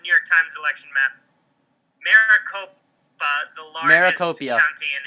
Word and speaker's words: Maricopa: I have to use the bathroom, by the way, so Maracopia. just keep talking. I'll be Mike, back. he was right. It's Maricopa.